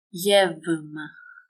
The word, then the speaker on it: γεύμα: If the following letter is a vowel, or it makes the vocal cords vibrate, the ypsilon is pronounced as v. If not a vowel and doesn't make the vocal cords vibrate, it is pronounced as f.